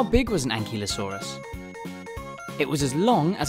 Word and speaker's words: ankylosaurus: bye velociraptor how do you say that again an key low saw russ how big was an ankylosaurus it was as long as a bus and